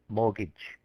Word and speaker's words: mortgage: So it's spelt mortgage, but we say mortgage. So the T is silent.